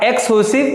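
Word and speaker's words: exhaustive: एक्सक्लूसिव events, H silent रहेगा, एक्सक्लूसिव events.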